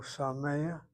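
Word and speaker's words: שמח: So sameach, the accent is here.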